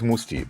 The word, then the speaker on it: Mousse T.: Basically, my name is Mustafa, and the short for Mustafa is Musti, but you spell it differently.